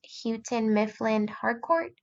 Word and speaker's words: Houghton Mifflin Harcourt: So our district follows HMH curriculum, and if I'm not butchering it, I believe it's pronounced Houghton Mifflin Harcourt.